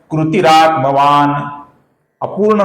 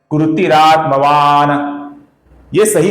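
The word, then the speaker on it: कृतिरात्मवान्: कृतिरात्मवान न फर्क समझ में आ रहा है आपको कृतिरात्मवान ये गलत उच्चारण है कृतिरात्मवान ये सही उच्चारण है हम इसका न ऐसा संपूर्ण भी उच्चारण नहीं करते हैं। उसका हम लगभग पूरा उच्चारण करते हैं।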